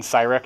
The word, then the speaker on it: Syrek: use myself this is my name is even sai wreck in case you're wondering about the pronunciation I'm s and all the